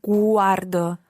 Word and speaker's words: guardo: guardo si cuardo watcher stress your emphasis guardo quarto okay cuarto un film a